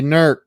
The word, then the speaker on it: Newark: lancaster lancaster and and newark hears they say nerc and louisville is louisville